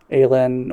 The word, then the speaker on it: Aylin: It's because uh how do you pronounce her name, sorry? The Ael Aela? Aelin. Aelin.